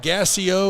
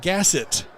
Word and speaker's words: Gasset: I am being corrected on my pronunciation of Gassio or Gassiod. It's Gasset.